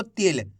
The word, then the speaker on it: तिल: से पढ़ना है आपको तिल क्योंकि छोटी इ की मात्रा को कम खींच के पढ़ा जाता है अगर आप तिल पढ़ दोगे खींच के तो बड़ी ई की मात्रा का उच्चारण हो जाएगा तो आपको ये गलती